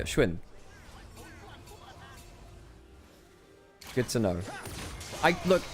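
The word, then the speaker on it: Xun: Apparently it's less like shun, which is the way I say it. More like a shwin.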